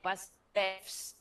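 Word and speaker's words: βασιλεύς: How you pronounce this correctly? Vasilev with F. Vasilevs. Say again, because we have this. There is an S. Vasilevs. Vasilevs. Vasilevs. With F in the end.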